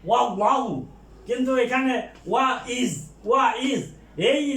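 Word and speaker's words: وَإِذْ: এই যে ওয়া ইজ, এই ইজ বানায় আলিফটা এটা হামজাতুল কতি, এটা সবসময় উচ্চারিত হবে। আগে একটা ওয়ার্ড থাকলেও এটা উচ্চারিত হবে ওয়া ইজ।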